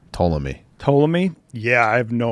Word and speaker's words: Ptolemy: So like, Is that how you pronounce it? I always thought it was a silent P. Ptolemy.